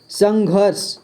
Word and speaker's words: संघर्ष: ठीक है, आधा र पढ़ते हैं इसको, यानी कि ये घ के बाद पढ़ा जाएगा, संघर्ष, संघर्ष। ठीक है, संघर्ष, यहाँ पर र का उच्चारण किया जाएगा।